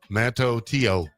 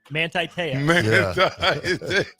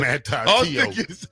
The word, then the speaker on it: Manti Te'o: Manto Teo. Manti Te'o. Hey, wait a minute. Manti Te'o.